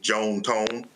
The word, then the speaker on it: John Tom: Uh, they were southern from Mississippi, so they pronounced it Joan Tone, but uh, yes, John Tom is his first and middle name.